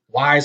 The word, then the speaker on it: Whis: Universe 10 apparently uh whis or um wise how you want to pronounce his name I just say whis whis uh actually found